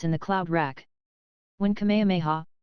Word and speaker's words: Kamehameha: it through Rifts in the cloud rack when Kamehameha pronounced Kamehameha the great who was a sort of a